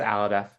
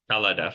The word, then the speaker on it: Al-Hadif: Commissioner Al-Hadif, am I pronouncing your last name correctly? It's pronounced Aladef. Aladef. Okay, the H is silent.